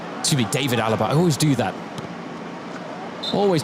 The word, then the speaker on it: David Alaba: Thomas Müller Philip L David Alaba excuse me David Alaba I always do that always do that with his name it's just such instinct to pronounce it the German way but for a couple